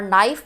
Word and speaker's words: knife: नाइफ, के silent है और नाइफ पढ़ा जा रहा है, एन जो है वो कॉन्सोनेंट है तो यहाँ पर लगेगा आ नाइफ।